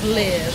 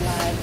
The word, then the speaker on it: LIV: go to the club live or live live live okay cuz it's spelled l IV and I always forget it but it's live though it's called live okay so it's called